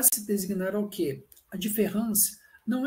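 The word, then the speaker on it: différance: que seria a diferença só que nessa escrita do francês em vez desse a ele ser escrito com e só que ele é pronunciado do mesmo modo de ferrans mas embora ele seja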